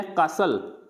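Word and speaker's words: castle: फिर है कासल, तो कासल में भी टी क्या होता है, साइलेंट रहता है, तो इसको क्या पढ़ेंगे, कासल।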